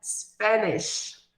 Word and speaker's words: Spanish: Sempre observando que a pronúncia do idioma, no finalzinho aqui, ela vai fazer um som de sh, sh, que nem acontece quando falamos o idioma espanhol, que em inglês é Spanish.